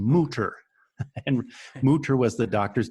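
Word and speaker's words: Mütter: It's Mutter, but the U has an umlaut, so it's Okay. Mutter.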